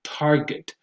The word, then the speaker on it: target: This one gets mispronounced a lot because people think that this is a j sound and when it's actually a g sound. So you say target.